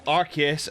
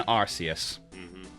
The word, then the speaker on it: Arceus: trailers for the same movie they call him arceus and arceus two trailers for the same movie and they're